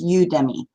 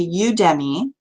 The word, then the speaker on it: Udemy: is you udemy and i imagine it sort of a twist on academy so it's udemy so that's the way